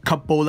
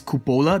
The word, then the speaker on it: cupola: the cupola caps or couple accounts I'm gonna be pronouncing it as cupola because I think it sounds a little bit more prestigious you know cupola